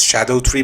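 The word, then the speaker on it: Scadutree: continue I should mention scadu actually means shadow in Old English so these names could be pronounced as Shadow tree blessing and Shadow tree fragment uh I'll keep calling it scad tree though because it sounds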